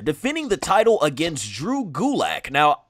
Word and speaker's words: Gulak: Cedric Alexander defending the title against Drew Gulak.